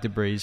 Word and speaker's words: debris: I'm joking I know you say it like debris but I'm just trying to be funny for